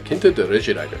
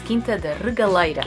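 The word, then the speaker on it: Quinta da Regaleira: the first stop, the Quinta de Regieira. No, you're saying it wrong. It's Quinta de Regaleira.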